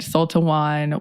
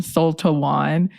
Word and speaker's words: Sul-Te-Wan: different reasons there were some sources that said sultawan was of art that her father Sultan's father